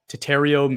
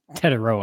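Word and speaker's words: Tetairoa: Number 5, Tatario McMillan, wide receiver, Arizona. Gosh, I love your pronunciations. It's fantastic. That was bad? Let's just say Tet McMillan. It's Tetaroa, I'm pretty sure.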